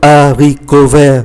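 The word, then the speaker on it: haricot: hạn như là le aricove, đậu cove, chúng ta không phát âm ký tự ash.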